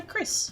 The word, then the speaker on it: Chryss: I call her Chryss, but spelled like chrysalis.